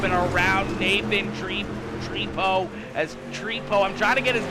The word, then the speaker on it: Trepo: As Trepo, I'm trying to get his name right. He told me last week that it's not Tripod, even though that's the way it's spelled. It's Trepo, I do believe.